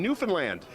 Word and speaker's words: Newfoundland: And second of all, thank you so much for saying Newfoundland. Newfoundland! Did I pronounce it properly?